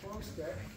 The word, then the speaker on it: Chrzastek: If you're looking how to spell it, so it's actually it's Polish, pronounced Chrzastek. And I just learned this